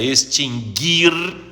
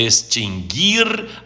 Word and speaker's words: extinguir: conselho administrativo extinguir a Aliás o verbo é extinguir não é extinguir nem distinguir nem adquirir o não se pronuncia é extinguir adquirir distinguir e veja outro significado